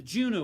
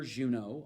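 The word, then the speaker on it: Juneau: and they were actually named for mr pierre juno although in that case spelled like the city in alaska and he was the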